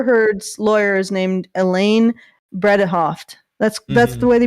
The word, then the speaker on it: Bredehoft: referring to amber heard's lawyer is named elaine bredehoft that's that's the way they pronounce it um so he she was obviously